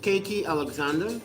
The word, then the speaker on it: KT Alexander: It's actually pronounced KT Alexander. Okay.